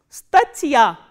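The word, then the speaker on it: статья: Stachya.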